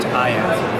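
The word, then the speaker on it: Aiya: And is the company called Aya, A-I-Y-A, pronounced Aya.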